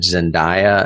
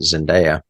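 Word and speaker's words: Zendaya: Zenda who I thought I always said zindia until I saw the Oscars the other night and they pronounced it Zinda okay plays CH she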